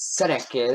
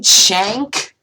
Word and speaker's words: Cenk: don't know who this Seneca is. From the Young Turks has come up with called the Justice Democrats. Wait, from the Young Turks. Do you mean Cenk? You pronounced Cenk as Seneca.